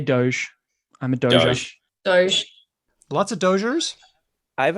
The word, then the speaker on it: Dogecoin: In my head, I've always thought that it would be Dogecoin with a hard G.